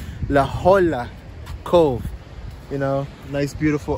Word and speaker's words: La Jolla: what's up I'm at La HOA laa I think I I think that's how you pronounce it laola Cove you know nice